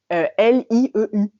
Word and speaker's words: lieu: vient de du français L I E U." Et en fait depuis le début il disait lieu, mais comme ils ne savent pas prononcer ce son, ils disent loup des loup.